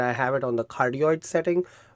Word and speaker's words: cardioid: It's C-A-R-D-I-O-I-D, cardioid. That's how I pronounce it.